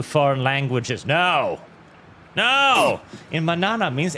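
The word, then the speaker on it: mañana: No, in manana means n is pronounced more like nya manana nya.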